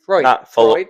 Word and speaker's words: Freud: Freudian Freudian Freud. So it's f re e u d freud. Freudian. Freudian. But Freud is just one syllable.